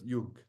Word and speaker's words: Jung: Yes, but our method is based on his student Jung, How do you spell that?